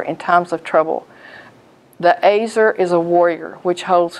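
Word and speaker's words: ezer: And also, Eve was an Azer. The word is spelled E-Z-E-R, but I was told it was pronounced Azer. And Azer is a strong helper, and Eve was Adam's helper.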